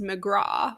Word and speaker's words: McGrath: found out katie mcgrath's last name is pronounced mcgraw with a soft a interesting i did not